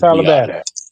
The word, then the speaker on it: Biadasz: Is that how you pronounce it? Tyler Badass. That's badass. That's Tyler Badass. Yeah, that's Tyler Badass.